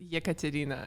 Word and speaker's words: Ekaterina: get it there yes it's ya katarina it's it's difficult to pronounce especially for american people i can see why